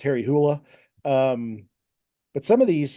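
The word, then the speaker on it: Harry Hole: it and it's it look you think it's pronounced Harry Hull but it's pronounced Harry hoola um but some of these you know like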